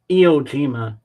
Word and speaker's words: Iwo Jima: Iwo Jima.